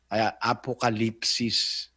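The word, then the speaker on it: ἀποκάλυψις: ang kahulugan ng apocalypsis apocalupsis pero sa tamang pronunciation sa griego ang ginamit kasi yung yung u no katumbas yun ng i sa atin eh apocalypsis pero Kung babasahin mo naglagay na paraan ng pagbasa nakalagay apocalypsis.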